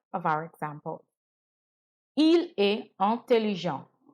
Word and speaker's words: intelligent: Il est intelligent. Notice that I stopped my pronunciation at the en, which makes the sound. The T was not pronounced in the masculine.